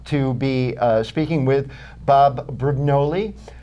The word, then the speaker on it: Brugnoli: But I, fortunately, am happy to be speaking with Bob Brugnoli. Pronounce it in the correct pronunciation for me? Brugnoli. Brugnoli? Yes. Well, I'm fairly close. That's close. Or Brugnoli, if some of you would like to pronounce it that way.